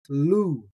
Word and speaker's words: λου: Today's Greek root is the Greek root spelled with lambda, omicron, upsilon, pronounced lu, lu.